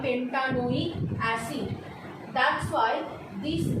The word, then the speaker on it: pentanoic acid: If this E is there, then we cannot pronounce these together, as pentane oic acid will be the pronunciation. To pronounce it together, to merge it together, the E needs to be omitted out and it should be written as pentan oic space acid. Now this thing has been merged together and the pronunciation has become pentanoic acid.